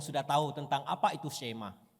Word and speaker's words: Shema: Kata pertama dari Shema adalah dengarlah atau dengarkan, yang dalam bahasa Ibrani diucapkan sebagai Shema.